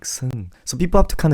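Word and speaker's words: 승: So the right way to cut this English word is actually S and E-U-N-G. Do you guys see where I'm coming from? So you pronounce the S, and then you say Seung.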